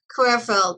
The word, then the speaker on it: Querfeld: correct is it carfield is that the proper pronunciation careful but you can you you just like okay corefield okay um we started out with a great